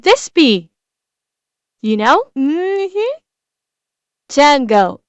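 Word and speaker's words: Django: Tango. The D is silent.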